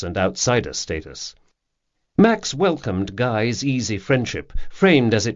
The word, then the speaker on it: Guy: Guy rhymes with high, as he had told